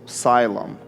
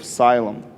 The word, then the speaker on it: Siloam: on the pool of asylum and when he goes and washes or siloam depend depends how you put the pronunciation i think more jewish way would be siloam and english asylum and that pool it's